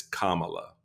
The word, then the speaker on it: Kamala: It's Kamala, all right? Put the accent on the right syllable, you'll be okay.